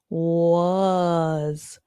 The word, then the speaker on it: was: The in this word the letter a has the uh sound.